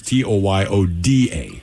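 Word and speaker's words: Toyoda: He was Tyoda, as in Yoda.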